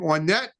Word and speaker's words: Ornette: And now this gentleman goes by the name Ornette, which rhymes with Lornette, which is what I'd wear if I didn't have full cut lenses on my glasses, because that's right.